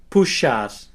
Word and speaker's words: puxar: The letter X can be pronounced as an S and an H together, like in the English word shop. Let's see some examples. You can repeat after me. Abacaxi, caixa, xícara, puxar.